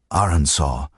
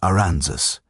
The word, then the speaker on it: Arkansas: The name comes from a French interpretation of a Native American word and the proper pronunciation reflects that French heritage.